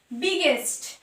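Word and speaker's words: biggest: তাহলে যখন ওয়ার্ডের মধ্যে দুটো জি থাকবে তার উচ্চারণ হবে গ।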